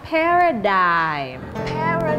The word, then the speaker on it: paradigm: Jadi cara menyebut kata ini adalah paradigm. Paradigm. Paradigm. Iya. Paradigm. Karena dalam bahasa Inggris banyak kata-kata yang mempunyai yang namanya silent letters.